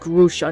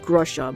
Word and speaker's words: Grusha: Oh, and I listened to his voice from Pokemon Masters EX, a voice clip, and his name is pronounced Grusha, not Grusha.